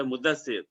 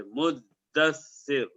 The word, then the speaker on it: مدثر: میں سورہ مدثر نہیں انڈین، پاکستانی، بنگلہ دیشی تلفظ ہے مدثر، دال پر زبر، عربی کا جو لفظ ہے وہ اس کے تشدید کے ساتھ ہے مدثر۔ تو جب سورہ مدثر